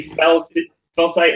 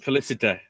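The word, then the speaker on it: Félicité: I see fell sight in the wound. Felicite. Felicite. Yeah. Oh, well, I'm looking at how it's spelled.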